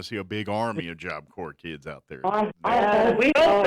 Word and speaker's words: Job Corps: And Job Corps has an S at the end, so it's JOBCORPS.gov. Yeah, it's silent when you say it, but it's not silent when you spell it.